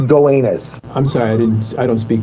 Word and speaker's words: Gowanus: It's pronounced Gowanus.